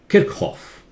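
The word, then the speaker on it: Kirchhoff: one it was a German scientist physicist it's pronounced at the German way kick off kick off the CH in German is not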